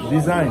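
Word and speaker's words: Dzyn: Design. But it's spelled D-Z-Y-N.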